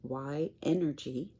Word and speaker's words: YNergy: I'm an energy healer and reiki practitioner i also have a channel on youtube it's YNergy... that is spelled y - n as in nancy - e - r - g - y.